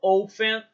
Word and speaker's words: often: How often, o T a gente não pronuncia, ele é mudo.